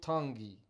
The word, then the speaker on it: Tongi: You pronounce the T's like a D in the Tongi culture. Tongi.